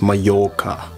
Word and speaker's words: Mallorca: a sprinkled island called Mallorca that it's pronounced Myakka apparently oh by the way